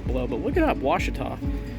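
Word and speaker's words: Ouachita: thought was cool was it is a it's pronounced washita and i i think there's like numbers and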